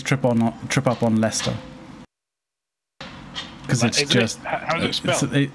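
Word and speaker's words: Leicester: like that is pronounced er yeah but it's pronounced Lester it's just wonder and we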